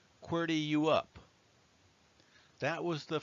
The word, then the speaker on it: QWERTY: It's pronounced QWERTY you up.